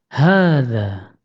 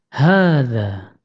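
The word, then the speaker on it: هذا: kata hadza bentuk hadza kata hadza terdiri dari empat huruf yaitu ha Alif dal dan Alif sehingga kita membacanya hadza hadza silakan Diulangi hadza akan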